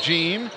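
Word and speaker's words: Jean: one is Derrick gene spells it je am pronounced gene the shots off the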